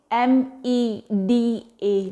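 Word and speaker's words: meda: Med, M-E-D-A, med, which called fat.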